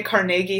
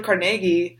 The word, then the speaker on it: Carnegie: you pronounce that like like I say Carnegie Hall because I Andrew Carnegie was from well he's from the UK but he lived in Pittsburgh got a moving Pittsburgh says Carnegie the rest of the